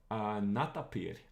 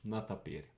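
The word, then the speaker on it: нетопырь: Modern Russian actually uses a ye here, even though it doesn't pronounce it like a ye.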